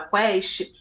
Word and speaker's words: Quaest: Felipe Nunes é um diretor do Instituto de Pesquisa Quest, e aí Quest se escreve Quaest, mas se fala Quest, em que ele fez uma pesquisa profunda, séria, muito interessante.